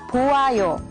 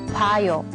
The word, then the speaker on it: 봐요: So in this case, it's not 보아요. But the correct way to say it is 봐요.